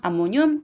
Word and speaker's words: 암모늄: 양면으로 만들어 주시면 되고요 이때 이 nh 코를 뭐라고 읽을까 암 4 뮤비 라고 읽어야 그래서 안모 년 이론 암모늄 양이온이 라고 하시면 되겠네요 여러분들의 딱